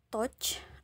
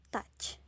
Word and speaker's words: touch: selanjutnya touch touch menyentuh jadi tidak lagi membacanya touch atau touch walaupun di sini hurufnya o u ya di tengah-tengahnya kita enggak baca touch atau tuch tapi justru seperti Huruf a touch lanjut ke sini put